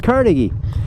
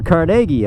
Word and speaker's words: Carnegie: Carnegie. Or Carnegie. I've heard it pronounced both ways.